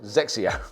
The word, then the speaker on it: XXIO: he was with Nike xxio this is pronounced zexia now this is a